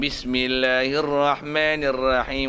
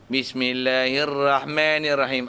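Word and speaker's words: بسم الله الرحمن الرحيم: Bismillahirrahmanirrahim. Ra. Tafkhim. Ra besar dua bagi atas tu. Ra tu bagi atas. Bismillahirrahmanirrahim. Rahim. Bukan Bismillahirrahmanirrahim. Walaupun Pak Arab, walaupun Syekh ana. Bismillahirrahmanirrahim.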